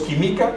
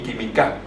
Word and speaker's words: química: Química, no decimos química y mi química. Química, y el sonido está en la antepenúltima sílaba.